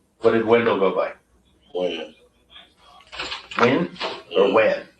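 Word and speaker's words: Wynn: Win or Wan? Win.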